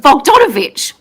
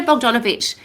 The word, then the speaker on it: Bogdanovich: Bdon Bdonovich. Um I need to say it lots of times so I say it correctly. But Peter Bogdanovich is actually a world famous movie director.